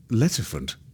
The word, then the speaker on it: Letterford: Why, Letterford, like the legendary lettuce elephant.